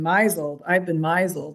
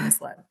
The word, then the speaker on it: misled: So I went around for most of my childhood saying, I've been misled instead of misled.